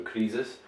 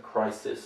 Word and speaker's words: crisis: Russians often have problems because obviously you have the Z sound, so krisis. We don't say Z, we say S. Some of my students will also have problems with increase. They might want to say increase or increasing, so they prefer the Z to the S, whereas we would say increasing, we would say crisis, it's a S sound.